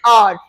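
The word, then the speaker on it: hour: सो एच is silent here, और मैं क्या साउंड सुन पा रही हूं, आर, एन आर, आ, ए का साउंड आ रहा है, राइट।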